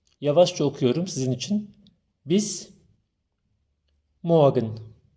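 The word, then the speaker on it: morgen: sizin için Bis moen r harfini çok bastırmıyor daha önceki videomda da söylemiştim Almancada çoğu zaman r harfini bizim Remzi isminde olduğu gibi r'leri çok Bastırmam çok söylemezler telaffuz etmezler onu biraz yutuyoruz böyle çok az kısaca moen diyoruz sevgili öğrenciler şimdi İnel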